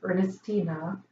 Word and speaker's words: Ernestina: So Ernestina, she's saying I'm mispronouncing her name. It's Ernestina. She says also learn pendulum